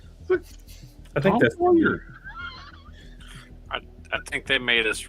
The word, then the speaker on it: Sawyer: Soy. She said soy. How do you get that out of Sawyer?